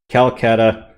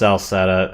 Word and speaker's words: Celceta: Actually, most of the solo installments are at most 10, but the party system games, 7, Memories of Calcutta. I know it's actually pronounced Celceta.